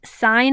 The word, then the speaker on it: sine: the six trigonometric functions sine of alpha we pronounce it sine of alpha it's abbreviated s i n sine